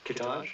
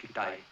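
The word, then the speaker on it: Kitaj: There's Hedgebar, Kittage. No, it's pronounced Kitai.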